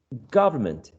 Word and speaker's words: government: word is government government does the word stress or lexical strengths change when we attach this suffix govern government does it shift to a different syllable or do you think it's basically the same syllable the one which is uh prominent is the same i think it's the same exactly exactly the same remember if you disagree